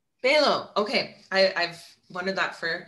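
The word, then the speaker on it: Balogh: Stephen Balow. Balow, okay.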